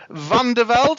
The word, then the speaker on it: Van der Velde: our good man van der Velde. Am I pronouncing that correctly? Pretty close. It's Van der Velde.